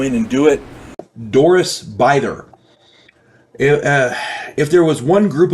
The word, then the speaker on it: Bither: I said it was Bither, and it's not. It's pronounced Bither.